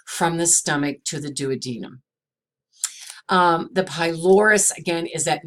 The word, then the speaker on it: duodenum: a denim now some people are going to pronounce this duodenum we're not gonna argue with them but technically the pronunciation is duodenum the jejunum which is the middle part and